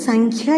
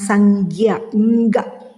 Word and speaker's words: സംഖ്യ: വരാതിരിക്കാൻ ശ്രദ്ധിക്കുമല്ലോ ഇവിടെ നോക്കൂ സംഖ്യ എന്ന് ഉച്ചരിക്കുന്നതിനു പകരം നാം സംഖ്യക എന്ന് പറയാതിരിക്കണം ശ്രദ്ധ വെക്കണേ ഇഷ്ടമായെങ്കിൽ സബ്സ്ക്രൈബ് ചെയ്യണേ